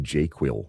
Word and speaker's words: JQL: easier to learn um properly pronounced jQuil by the way.